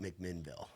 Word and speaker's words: McMinnville: Do you say it like Louisville, where it's like McMinnville, or how do you? I say McMinnville. My mom says McMinnville. So McMinnville. Okay, there's a little A in there. I think a lot of locals say McMinnville, but it's McMinnville.